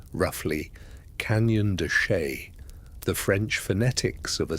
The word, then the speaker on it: Canyon de Chelly: It is pronounced roughly Canyon de Chelly.